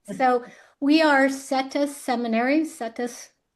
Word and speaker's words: Setas: Settus pronounced like lettuce but it's sa seminary.